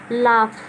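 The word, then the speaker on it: laugh: एक और एग्जाम्पल है, अगला है लाफ। अब ये GH साइलेंट रहा ना, क्योंकि रूल के अनुसार देखिए चुप रहेगा, साइलेंट रहेगा, तो इससे हम पढ़ेंगे लाफ यानी कि हंसना।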